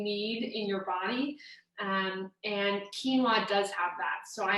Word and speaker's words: quinoa: they wonder how is it even pronounced it's pronounced quinoa and it's a nutritional powerhouse so brown rice